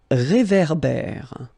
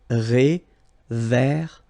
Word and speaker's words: réverbère: So here you've got this accent aigu, et, and then here you've got this accent grave, é. Okay, et, é. So it goes like réverbère. Okay, un réverbère.